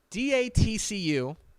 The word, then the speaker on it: DATCU: sponsor and that is TCU say it correctly d-a-t-c-u which is a credit union will be what's it stand for um I need to look this up what is TTC using Denton Area Teachers Credit Union d-a-t-c-u will be the new title sponsor of North